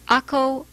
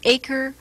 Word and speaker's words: Akko: the crusader city of akko or acre or akra depending on the pronunciation you choose this is an old